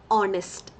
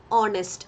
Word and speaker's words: honest: Okay, in some cases H remains silent. Now what is the pronunciation? Honest. Honest. O sound alle.